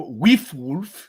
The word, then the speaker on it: WIFWULF: I should have asked to pronounce before I started recording, but WIFWULF, am I saying that right? Or as Dailen says in the Kickstarter video, WIFWULF, if you're feeling Old English.